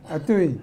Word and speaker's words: Hatuey: H is silent. so Okay, Hatuey. Atui.